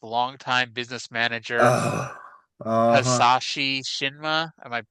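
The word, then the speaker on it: Hisashi: Hasashi Shinma. Am I pronouncing that first name Yep.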